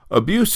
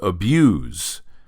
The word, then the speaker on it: abuse: Abuse is written the same way as a verb and as a noun. As a verb, it's pronounced abuse.